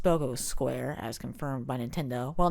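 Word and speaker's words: Spocco Square: goal a bit smaller we can also see spock of square here it's actually pronounced spogo square as confirmed by nintendo well not really confirmed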